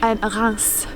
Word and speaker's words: Reims: How do you say that in French? Reims. Reims. Instead of Reims. Right, yeah. Reims, Reims, both work.